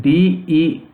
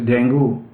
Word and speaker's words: dengue: This disease, so-called dengue fever, I will take a little time to tell that dengue, we pronounce it as dengue, but actually its pronunciation is dengue fever.